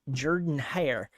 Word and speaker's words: Jordan-Hare: California goes to Jordan-Hare. Yeah, I made sure I didn't say Jordan because God forbid I pronounce Jordan with the O.